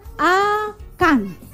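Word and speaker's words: Akhan: Bukan Akan tapi A K H A N. Dibacanya Akan.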